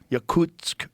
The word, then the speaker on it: Yakutsk: you say that Brian yakut Y Yak yakut Yakutsk region uh like even deeper in the permafrost